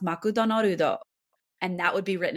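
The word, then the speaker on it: マクドナルド: For example, McDonald's is pronounced makudonorudo, and that would be written in katakana, not hiragana, because it's a word that's non-Japanese in tradition.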